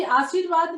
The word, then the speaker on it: आशीर्वाद: अभी आशीर्वाद में जैसे मैंने आपको बताया था कि र का रूप क्या होता है, ऊपर जब रहता है तो हाफ रहता है, तो इसका उच्चारण कैसे हो रहा है, आशीर र। तो ये इसके बाद में आ रहा है, बीच में आ रहा है, तो जिसके बाद आएगा इसका उच्चारण, उसके बाद वाले वर्ण के ऊपर यहाँ पर ये र के रूप में पड़ जाता है।